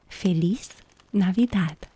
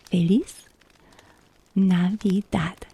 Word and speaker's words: Feliz Navidad: But the way that I know how to pronounce this phrase is Feliz Navidad. That's Feliz, Feliz, Feliz Navidad.